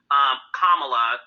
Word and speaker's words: Kamala: No, it was definitely beautiful to see Kamala. That's how you pronounce her name, Heavenly.